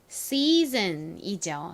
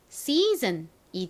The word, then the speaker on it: season: 계절이라는 의미의 season이죠. season. EA가 긴 E 소리가 나고 SON은 든으로 쓰여서 season이 됩니다.